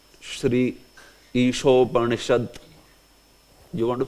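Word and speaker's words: श्री: becomes sh uh sh it's not fre it is Shri sh sh isop like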